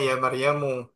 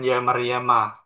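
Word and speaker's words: يا مريمُ: Makanya cara bacanya ya Maryamu bukan ya Maryama. Enggak kayak ya masyarol atau ya bani tapi ya Maryamu.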